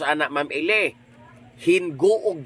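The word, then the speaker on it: Gingoog: Hinguog di ay dili ginuog.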